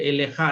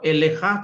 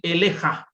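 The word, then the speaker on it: עליך: Eleha itu kan ee atas engkau itu dibacanya tetap elekha tetapi pada akhir dari kata itu ada huruf h jadi elekha bukan eleha.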